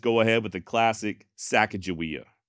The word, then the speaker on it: Sacagawea: choose to just go ahead with the classic sack ofia not because I'm necessarily married to that particular pronunciation but in all honesty it does make my life a little easier saaka jaia is the way I've always been saying her